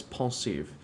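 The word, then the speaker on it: Pensieve: It's French. Pronounce it right. It's pensive.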